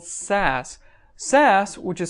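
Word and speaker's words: Sass: going to take a look at is called SAS SAS which is spelled s a SS is an acronym that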